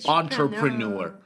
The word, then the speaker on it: entrepreneur: So we say entrepreneur in in French it's entrepreneur or something like that entre that means no one not enter it's written e n t uh r but it's pronounced as entra entrepreneur entrepreneur again this